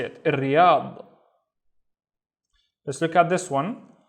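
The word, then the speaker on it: الرياض: Since this is a sun letter, I replace il with ir. And then ri, ri. Remember, the ri is doubled. So ri, yad, riyad, which is Riyadh.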